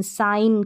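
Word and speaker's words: sign: में आएगा स्पेलिंग के जी एन साइन करके साइन तो उच्चारण आप देख सकते हैं साइन और भी ऐसे एग्जांपल साइन यहां पर ए जी और एन है जी का साउंड नहीं आ रहा न का साउंड प्रोड्यूस हो रहा है तो जी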